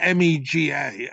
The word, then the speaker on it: MEGA: governance Alliance which spells me GA and they're pronouncing it Mega which is like Omega so there's a there's